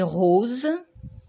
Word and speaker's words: rose: Ardoise et rose, le son S tout seul se prononce ici Z, car il se trouve entre 2 voyelles.